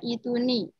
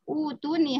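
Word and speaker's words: ائتوني: Biasanya kan bacanya utuni harusnya ya. Ya nggak? Iya. Ini kalau ngikutin teori yang domah itu. Ini gharib. Jadi dibacanya i. Ituni gitu ya.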